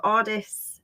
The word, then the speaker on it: AWDis: and our original brand so AIS um is pronounced that way um some of our